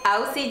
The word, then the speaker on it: Auxi: mi nombre completo es ausi no Auxiliadora que es como muchísima gente piensa que me llamo Auxiliadora y que me lo corto a la mitad pero no se escribe a ux x y soy de Honduras